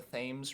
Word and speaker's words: Thames: of london referred to the river as the thames river okay and refused to be corrected by